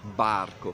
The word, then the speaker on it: barco: Fate conto che da qua verso il castello Sforzesco era tutto il famoso barco, proprio con la B si pronunciava, sulle cartine compare così.